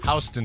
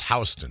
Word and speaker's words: Houston: the city there, but it's pronounced Houston Street, not Houston.